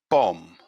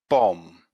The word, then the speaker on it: bomb: at the first words the first silent letter is b here are the four words bomb bomb climb climb death death lamb